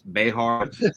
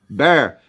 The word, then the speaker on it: Behar: So look, there's the correct way, and then there's like the white way. It's Behar. Everyone else is just Bear.